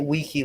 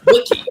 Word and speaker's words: wiki: but this year bu the way you pronounce Wiki stop pronouncing it weaky Lenny oh my God I will I will generally beat you up if you continue to say wiy Wiki what am I supposed